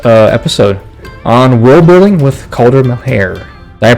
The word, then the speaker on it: Caulder Melhaire: And I think that's gonna wrap it up for this LegendFire podcast episode on world building with Caulder Melhaire. Did I pronounce that right?